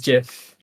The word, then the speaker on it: GIF: maybe I'm just weird how do you pronounce the shortened form of the graphics interchange format I say JF it is oh my God I'm gonna never release this episode it's always JF the Creator said it's GIF and the